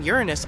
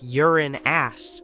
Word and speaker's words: Uranus: well we've been miscalling Uranus all this time astronomers say we should be pronouncing it like urine ass not Ur anus I can't say a